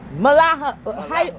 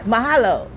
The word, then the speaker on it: Mahalo: Malaha. How you say it? Mahalo, right? Mahalo. So, aloha is hello and goodbye. Yes. Mahalo is thank you. So mahalo.